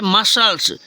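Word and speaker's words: muscles: ठीक है नेक्स्ट है मसल्स यहां देखो सी साइलेंट हो गया मसल्स ठीक है नेक्स्ट है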